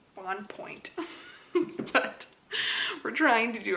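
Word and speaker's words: Bonpoint: but it's one word b-o-n p-o-i-n-t so if our pronouncing it in american english should be on point but we're trying to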